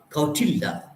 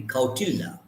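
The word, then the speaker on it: Kautilya: hr to the author a book written by kautilda sometimes in the 4th century bc i'm sorry about my pronunciation but it will be kotila k-u-k-a-u-t-i-l-y-a a great indian philosopher he's using this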